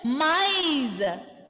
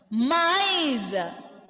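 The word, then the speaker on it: maïs: Okay, second vowel letter will have this trema accent, and that time when you see trema accent, you must pronounce those two vowel letters separately.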